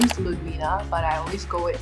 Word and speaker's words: Ludwina: okay my name is uh my name is ludwina but i always go with i know